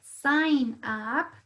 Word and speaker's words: sign: Tenemos la palabra sign up. Sign up. Aquí se escucha claramente el sonido de una A.